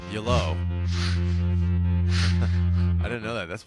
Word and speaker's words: Yello: Oh, so it's pronounced like the word hello, except with a Y at the front. Yellow.